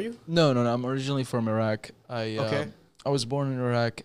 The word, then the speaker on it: Iraq: So one thing, Brian, a lot of people have the misconception that George Bush started pronouncing it as Iraq. It's actually pronounced Iraq.